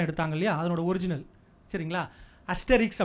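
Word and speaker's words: Asterix: For example, 2 வருஷத்துக்கு ஒரு தடவை ஆஸ்ட்ரிக்ஸ் அப்படின்னு சொல்லிட்டு ஒரு பாப்புலர் கேரக்டர் இருக்குது. நம்ம தமிழில் புலி அப்படின்னு ஒரு படம் எடுத்தாங்க இல்லையா, அதனோட ஒரிஜினல், சரிங்களா? அஸ்டெரிக்ஸ் அப்படின்னு அதை ப்ரொனவுன்ஸ் பண்ணணும். அந்த ஆஸ்ட்ரிக்ஸ் வந்து நவம்பர் மாதம்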